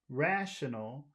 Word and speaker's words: rational: in the word rational rational where's all the sound which syllable has all of the sound rash R rational rational R rational okay